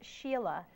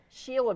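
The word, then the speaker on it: Shelagh: an unusual name it's it's sheila sheila but it's spelled different sheila erin it's a celtic gaelic name but it's spelled a little different than this i grew up with s-h-e-l-a-g-h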